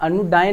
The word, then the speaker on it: anodyne: दिमाग में आ जाना चाहिए कि नहीं माँ, अनु डायन नहीं है, अनु क्या है, अनु पीड़ानाशक है, पेन किलर है, इनोकस है।